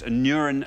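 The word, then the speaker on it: Aneurin: I am Bevin okay anion Bevin sometimes pronounced a neuron Bevin says Jeff let's see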